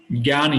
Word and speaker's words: Jnana: Jnana Yoga. Gyan Yoga. It's pronounced like Gyan Yoga.